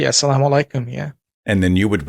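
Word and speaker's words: as-salamu alaykum: I we were Muslims is it assalamu Alum is that right am I saying it right absolutely asalam alikum yeah and then you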